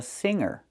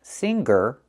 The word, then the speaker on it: singer: a He's also a singer. And the word is not pronounced singer. It's pronounced singer. We don't make the hard g sound in this word.